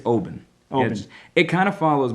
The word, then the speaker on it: Oban: It's Oban. Oban. It kind of follows my New England rule where you just kind of really only give like 40% effort to the vowels and roll through them.